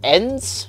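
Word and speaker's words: EINDS: I think it's called ends it's it's spelled e-i-n-d-s I'm pretty sure it's pronounced ends though it stands for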